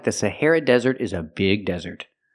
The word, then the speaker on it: Sahara: That's right, the Sahara Desert is a big desert. Pronunciation, Sahara. The stress is on the second syllable, hair, and it sounds like this, hair.